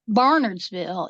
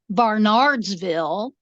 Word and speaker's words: Barnardsville: So when they are from somewhere else and they don't understand that here, Barnardsville is pronounced Barnardsville. It is not pronounced Barnardsville.